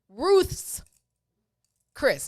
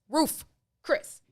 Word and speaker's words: Ruth's Chris: Ruth's Chris, not Roof Chris. It's plural. Ruth's.